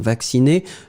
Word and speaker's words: vacciné: le participe passé, hein, vacciné, donc phonétiquement, oui, on prononce comme si c'était l'infinitif, mais n'oubliez pas vraiment le participe passé, accent aigu à la fin.